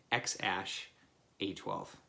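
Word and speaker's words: X Æ A-12: So it's like A-E-A-12, and how you pronounce it is A-ASH-A-12. Sorry, X, X-ASH-A-12.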